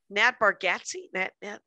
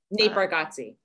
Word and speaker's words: Nate Bargatze: He's he's the inspiration for the I was also talking to somebody about Nat Bargatze. Nate Bargatze. That's it.